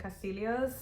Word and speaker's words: Castillo: didan compared to elen Castillo and I say it like that cuz that's how she says it so I want to honor that because colonialism is bad